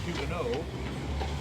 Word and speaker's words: Huguenot: The term Huguenot is actually pronounced Huguenot because it's a French word, the T at the end is silent, but Americans never pronounce anything correctly.